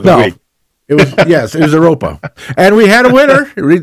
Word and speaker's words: Europa: The word was, which I kept mispronouncing over and over again, as Europea, I think it was Europea. Yeah, you were saying Europea. And instead of Europa.